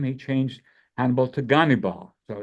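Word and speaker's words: Gannibal: Major General Abram perovich ghal ghal rhymes with cannibal so he was a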